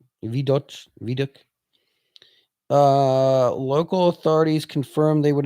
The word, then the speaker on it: Vidocq: Say it. Vidoc. It's French. Vidoc.